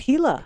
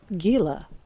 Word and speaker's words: Gila: Like pronouncing it Gila and not Gila.